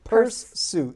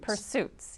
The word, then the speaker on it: Pursesuitz: And then the one that I always have a hard time pronouncing, Pursesuitz. Pursesuitz, yes.